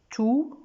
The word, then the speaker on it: tout: Tout, toute. Et là, quand il est déterminant ou bien adjectif, ça se prononce tout.